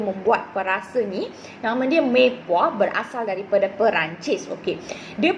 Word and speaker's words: Mirepoix: Mei puah. Tahu tak mei puah tu apa? Okay, mei puah ataupun ejaan dia Mirepoix. Okay, now bukan merepoix. Okay, right? So dia punya pronunciationnya adalah mei puah.